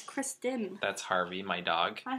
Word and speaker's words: Kristen: keep calling her Christian that's her name it's Kristen that's Harvey my dog hi Harvey he's making